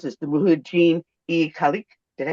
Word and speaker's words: Mujahideen-e-Khalq: ask about the MEK, which I'm going to mispronounce this, the Mujahideen-e-Khalq. Did I say that correctly? Mujahideen-e-Khalq Iran, yes.